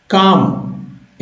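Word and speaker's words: qualm: लोग करते हैं एडमनेशन काम एल साइलेंट है इसमें और काम का मतलब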